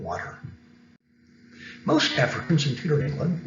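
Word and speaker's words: Walter: sir francis drake and sir water rolling that's how he pronounced his name water most africans in peter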